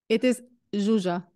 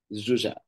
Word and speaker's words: Zsuzsa: How shall I pronounce it? It is Zsuzsa. Zsuzsa.